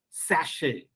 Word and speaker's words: sachet: it is cash similarly it is not sachet it is it is sachet similarly if you see